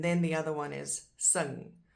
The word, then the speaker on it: sing: And then the other one is sing, which is spelled exactly like the English sing, but just pronounced differently.